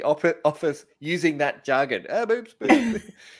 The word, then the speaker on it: Boops boops: And again, if I get this wrong, please tell me if I've pronounced it wrong, but it is boops boops.